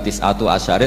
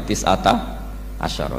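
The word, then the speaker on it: تسعة عشر: tisata asyaro utawi solongol tetap bacanya bukan tisatu asyarin tapi tisata asyaro jadi kita tahu secara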